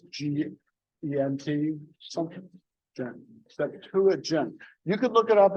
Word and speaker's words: Septuagint: How do you spell that? The Septuagint, just like it sounds. It's SEPTU. I think it's GENT something. Septuagint.